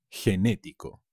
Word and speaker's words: genético: y ser generoso genetics genético con un acento en la segunda es genético enormes gigante